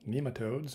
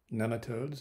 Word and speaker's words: nematodes: Welcome to this brief introduction to the worms we call nematodes, or nematodes, if you prefer that pronunciation.